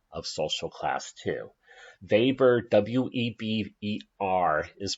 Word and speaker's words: Weber: next vapors idea of social class to weber w eb e r is pronounced weber a lot of sociologists get annoyed when people